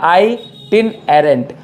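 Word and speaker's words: itinerant: कौन सी बात हुई, आई, आंख वाला आई, टिन एरेंट, आई टिन एरेंट, बात समझ में आ रही है, ये प्रोनाउंसिएशन ध्यान रखना।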